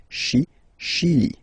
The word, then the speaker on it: Chili: Okay, Chili. Le Chili. La Bolivie. Okay, final not pronounced.